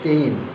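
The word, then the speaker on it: 店員: বলা হয় উচ্চারণটা আসলে তেইন উচ্চারণটা আসলে তেইন এরকম উচ্চারণটা হবে তেইন তেন এন জিনিসটা আসলে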